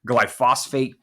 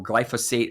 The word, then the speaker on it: glyphosate: stronger and and the first one is is glyphosphate uh or glyphosate I always screw up the the pronunciation for this so this is these toxins